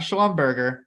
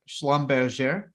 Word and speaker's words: Schlumberger: YouTube the YouTube Community I know how to pronounce this company's name correctly so it's not Schlumberger Schlumberger I'm kidding I probably botched it but I thought I got that one pretty well there ticker symbol S L